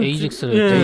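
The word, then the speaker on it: Aegis: 영어 그럼 발음이 이지스가 아니라 다르게 발음되나요? 영어로 하게 되면? 실제로는 에이젝스를 에이젝스요?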